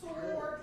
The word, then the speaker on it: sword: The W in sword. It's pronounced sword, even though it's Well, don't put the W in there.